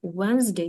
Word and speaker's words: Wednesday: буде інтрига А це ще нормально wday wedesday Wednesday середа Thursday так в англійській мові є два